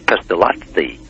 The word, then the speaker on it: Pestalozzi: Pestalozzi, the end is L-O-Z-Z-I, and it's Swiss. Switzerland borders Italy, and it's an Italian name, but it's Pestalozzi. It's pronounced like a T, L-O-T-Z-I, Pestalozzi, but it's actually two Z's. That's just the way the Italians pronounce that type of syllable.